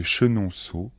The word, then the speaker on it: Chenonceau: sont les châteaux de chambor de Blois de chenonau et le château de ise les plus célèbres